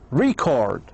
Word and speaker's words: record: So if you say record, record, the stress should be in the first syllable.